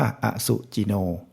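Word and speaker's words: อสุจิโน: นี้ ก็ เหมือน กัน อ อ่าง ไม่ มี อะไร ก็ คือ สระ อะ ส เสือ มี สระ อุ จ จาน มี สระ อิ น เน มี สระ โอ ก็ อ่าน ว่า อสุ จิโน พอ เป็น ตัว นี้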